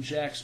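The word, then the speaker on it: Jacques: It has been many years since I read it, but I recall Martin Jack's book, that's spelled Jacque, Martin Jack's book, When China Rules the World, to be an objective read.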